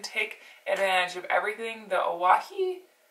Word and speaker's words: Owyhee: that we can take advantage of everything the Oahu? How do you say that? Oahu.